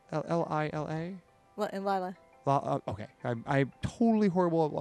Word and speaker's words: Lila: Lilia? L-I-L-A? Lila. Okay. I'm totally horrible about pronouncing names, so.